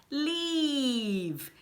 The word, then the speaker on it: leave: Então o primeiro é escrito com EA, né? Então vai ser o som do sorriso, do I comprido. Leave, leave.